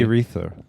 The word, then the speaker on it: Erice: Urethra.